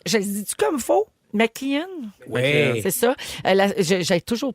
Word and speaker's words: McKeon: Je Je sais pense qu'il faut dire McKean.